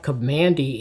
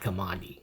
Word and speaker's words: Kamandi: Uh one curious thing I hear some people mispronouncing Kamandi. It's not Komandi.